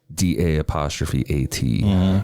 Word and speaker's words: Da'at: DA''AT, darling. Da'at. It's ma'at, so I guess da'at.